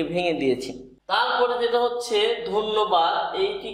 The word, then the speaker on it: ধন্যবাদ: তাহলে ধন্যবাদ এই হচ্ছে ধন্যবাদের সঠিক উচ্চারণ, ধন্যবাদ।